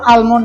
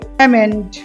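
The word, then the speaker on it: almond: অ্যালমন্ড, অ্যালমন্ড, সবাই বা কেউ আলমন্ড বলে, দুটোই ভুল। এটা হবে এল এর উচ্চারণ উজ্জ থাকবে, অ্যামেন্ড, অ্যামেন্ড।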